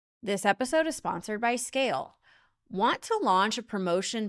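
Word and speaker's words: Scayle: So visit scale today. That's s c a y l e. Yes, the y is silent.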